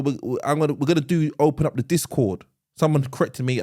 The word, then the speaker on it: Discord: Yeah, and we've also we're gonna open up the Discord. Someone corrected me. I said discourse before, and it's like it's Discord actually.